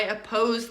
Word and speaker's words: oppose: So in oppose, what syllable is stressed? The second syllable, right? Oppose. But that means the first syllable, which has an O, does not sound like O. I do not say, I oppose you.